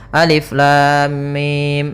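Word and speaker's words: الم: Maka cara yang benar membacanya adalah seperti ini, alif lam mim. Panjangkan dulu lamnya. Kita ulang kembali, alif lam mim.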